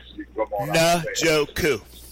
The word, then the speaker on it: Njoku: Njoku. Njoku.